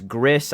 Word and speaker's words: Gris: It is pronounced Grease, by the way. It's not pronounced in any other way. I understand that it is spelled G-R-I-S, Gris.